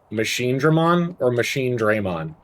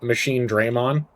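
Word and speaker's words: Machinedramon: Do you pronounce it machine drammon? And I pronounce it machine Draymond. And I'll tell you why.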